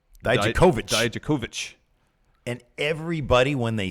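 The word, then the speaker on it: Dijakovic: So I thought it'd at least be Dye-Juh-Koh-Vich.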